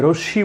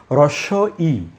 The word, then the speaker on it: হ্রস্ব ই: এটাকে কিন্তু অনেকে ভুল বলেন, যে রশ্মি বলেন। এটি আসলে রশ্মি নয়। আমরা একটু সাবধান হয়ে বলবো যে হ্রস্ব ই, বাংলায় দুটো ই আছে, হ্রস্ব ই এবং দীর্ঘ ই।